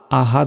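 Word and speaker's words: أحد: অনেকে কি বলি আহাদ বলি কুলহু আল্লাহু আহাদ আহাদ নয় এখানে দেখুন বড় হা রয়েছে বড় হার উচ্চারণ করতে হবে আহাদ আহাদ এবং শেষে এই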